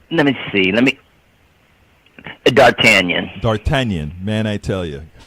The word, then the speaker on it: d'Artagnan: was telling you that it's actually pronounced d'Artagnan I screwed up on